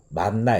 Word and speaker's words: 만나: 무엇이냐 이렇게 묻게 되는데 이것이 히브리어로 발음 하게 되면 만나 에 가깝습니다 그래서 이게 무엇이 어찌